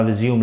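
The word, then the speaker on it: résumé: है कि आप अपना रिज्यूम लाएं, तो वहां पर इसका प्रोनाउंसिएशन रिज्यूम नहीं होता है, इसको बोलते हैं रिज्यूमे. रिज्यूमे, it's pronunciation is रिज्यूमे.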